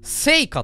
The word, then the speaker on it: 犀華: 哲郎せかのあせかって読むんだせかの父せか